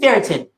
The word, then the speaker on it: ferritin: Ferritin?